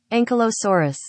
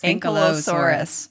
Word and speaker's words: Ankylosaurus: Maybe if I look up ankylosaur pronunciation. Okay, here we go. Ankylosaurus. Well, I said it wrong. Let's try that again. Ankylosaurus. Ankylosaurus.